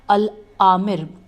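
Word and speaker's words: الآمر بأحکام اللہ: گیا۔ اس کے بعد العامر باحکام اللہ 495 میں ہجے کر دیتی ہوں۔ العامر الف لام الف مد آ میم رے بے الف ہے کاف الف میم باحکام اللہ اور پھر اللہ ہے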